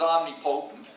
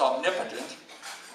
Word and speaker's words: omnipotent: First of all, I thought it was omnipotent. It's actually, I found out it's omnipotent.